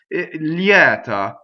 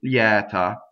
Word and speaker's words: lieta: unvoiced after that next word leotta ok so it's open a lot of people in speech do this closed ok so use your own discretion but technically it's Yetta Yetta now Americans we